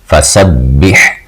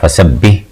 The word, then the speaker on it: فسبح: سب با زیر حابح، فسبح۔ اب اس کو آپ نے تلفظ کا خیال کرنا ہے، فسبح نہیں پڑھ دینا۔ ہا جو ہے وہ حروف حلقی میں سے آتا ہے، حمزہ